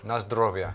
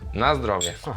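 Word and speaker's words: Na zdrowie: Nazrovia. Nazrovia.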